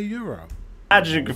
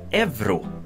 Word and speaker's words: euro: And it's pronounced euro. Or euro. Or however a Swede would pronounce it. But a lot of Swedes actually pronounce this evro. And why that? Evro? Why? That is, I'm not entirely sure. Because in Swedish, the word for Europe, it's Europa. It's Europa. Not Evropa. You don't pronounce it with a V instead of a U.